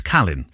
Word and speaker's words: Cahleen: So by the way, if it's Mandarin Chinese, which is Taiwan standard, it's Kalin.